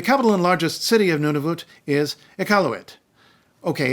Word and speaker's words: Nunavut: Nunavut which is pronounced Nunavut you could say Nunavut you can say none of it but why would you when you can say